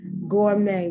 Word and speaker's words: gourmet: tea is not pronounced gourmet once again french the tea is not pronounced depo once again french